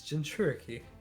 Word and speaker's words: Jinchuriki: It's Jinchuriki. You're fine. Fuck. How do you pronounce your team?